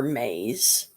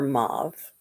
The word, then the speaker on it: Mab: name some call her maze some call her mauve and some call her mob or mab um she is a